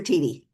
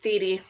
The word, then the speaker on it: Teedy: Can you pronounce it Theedy or Teedy? It's Theedy.